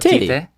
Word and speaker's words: Tite: That's his nickname. It's spelled Tite. It's Titty. See, I was trying to say Tite.